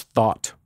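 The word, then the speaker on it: Thoth: Pantheon as th right also pronounce thought just like a thought inside your head MH uh in addition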